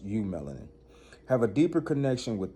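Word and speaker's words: eumelanin: Pronounced U-melanin, have a deeper connection with the unseen, rhythm, intuition, and natural elements.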